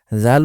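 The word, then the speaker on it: ذ: জাল উচ্চারণ করার সময়ও জুভার আগা সামনের উপরের দুই দাদের আগার সাথে লাগিয়ে এরপর উচ্চারণ করতে হয়।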